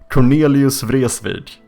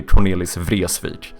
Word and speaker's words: Cornelis Vreeswijk: A lot of people say Cornelius Vreeswijk. That is a very common pronunciation. Or otherwise the correct Swedish pronunciation, which obviously would still be incorrect in Dutch, would be Cornelis Vreeswijk.